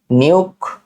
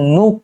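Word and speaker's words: Nuuk: নিউক। নিউক না আসলে এটা হচ্ছে নুক। মানে একটু অদ্ভুত প্রোনাউন্সিয়েশনটা। নুক বলতে পারি আমরা। নুক নিউক। নুক ওকে এরপরে দেখি বাংলাদেশের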